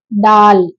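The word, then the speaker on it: دال: இது நெக்ஸ்ட் வந்து என்னன்னா டால் டால் டால் டிடிஹஏ எல் டால் டி சவுண்ட நல்லா அதிகமா நல்லா சவுண்டா இருக்கணும் நல்லா கேக்கணும் அந்த மாதிரி டால் டால் அப்படின்னு சொல்லி டா சவுண்ட நல்லா உச்சரிப்பு நல்லா சொல்லணும் அடுத்து நெக்ஸ்ட் வந்து டால்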